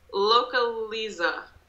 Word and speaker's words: Localiza: This brand, how do you pronounce this? Localiza.